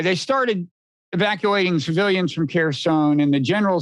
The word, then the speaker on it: Kherson: How you pronounce it? Kherson. That's the conventional reading.